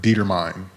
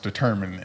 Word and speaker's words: determined: I used to pronounce it, if you see it on paper, Dietermine.